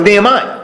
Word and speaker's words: Nehemiah: start talking about last week how do you pronounce his name well Nehemiah we start talking about Nehemiah and Nehemiah if